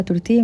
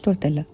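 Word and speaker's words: tortilla: وعايز عايزه اقول لكم ان تورتيا دي كلمه اسباني لما بتتكتب بالانجليزي بيبقى فيها دبل ال واللي في اللغه الاسبانيه اصلا بينطقوا الدبل ال يا فالنطق الصح بتاعها تورتيا مش تورتيلا هناخد كوره من كرات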